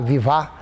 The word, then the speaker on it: Vivá: Pronúncia é um pouco diferente. Que tem um acento no A, né, com o final H, Vivá, que seria o significado da natureza, né, indígena, que seria forte como a natureza.